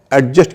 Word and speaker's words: adjust: की थी तो हमने एडजस्ट की बात की थी और हमने बताया था कि एडजस्ट में डी साइलेंट होता है उसका सही एडजस्ट नहीं है एडजस्ट है साथ में हमने नियम